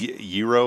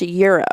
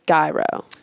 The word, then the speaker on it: gyro: or whatever it is euro is that what you call that stuff so actually we asked them and it's pronounced Euro Euro like currency like the currency okay I always thought it was gyro you know what's cool